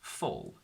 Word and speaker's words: full: to each other, but this l sound distorts the U and makes it more into a sort of all, so it becomes full.